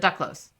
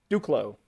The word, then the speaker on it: Duclos: Or is it Duclos? Duclos. Duclos. Don't pronounce the S.